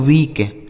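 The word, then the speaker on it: week: तो W double E के इसे पढ़ा जाता है दोस्तों वीक।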